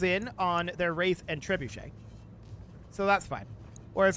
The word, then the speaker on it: trebuchet: on their wraith and trebuchet so that's fine whereas I like to pronounce it tree bucket it's a a very